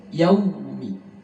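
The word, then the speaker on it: يوم: Yaumi, wawnya di sini bunyi ke u, yaumi, bukan yau, bukan ke o.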